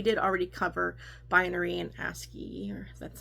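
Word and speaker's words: ASCII: aspect but we did already cover binary and asy that's how you say it and things like that.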